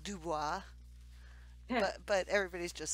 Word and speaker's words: DuBois: and it's spelled do you be is like Du Bois yeah but everybody's just says Dubois and that's how you pronounce it Dubois well Illinois is Illinois now